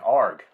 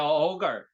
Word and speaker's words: Ogre: It's Ogre or Org Limbs I Like. The boys are back. Oh, yeah, ogre. Yeah, ogre. That's how you say it.